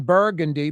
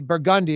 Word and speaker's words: Burgundy: ATF, federal agents, local agents raided a French Quarter spot on Burgundy. Burgundi, excuse me. Burgundy. Burgundi. Culture fashions on Burgundi. Culture spelled with a K was basically a big gun and drug outlet.